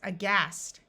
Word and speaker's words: aghast: This word starts with an A, and A often schwas or takes on a muffled sound at the beginning of a word. So this word is aghast.